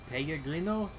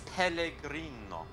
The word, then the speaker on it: Pellegrino: Like, I was supposed to pronounce Pellegrino as Pellegrino, which is, I think it's just wrong. That was what the style guide said, so I had to do it. It's Pellegrino.